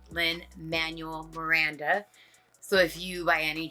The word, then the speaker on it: Lin-Manuel Miranda: It is not Manuel Lin or Miguel Lin. It's Lin-Manuel Miranda.